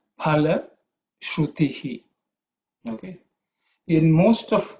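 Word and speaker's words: फल: There are some who pronounce it as phala with an F sound, but the real Sanskrit pronunciation is pa. Okay, pa with an extra air. Okay, because it's the second letter in the pa varga.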